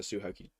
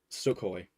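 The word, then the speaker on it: Sukhoi: I think it's or it's a Suhoki. Okay, that that was an inside joke. That was an inside joke me and my friends had a mispronouncing name, but no, Sukcoy. A Sukcoy jet, not a suhokei jet.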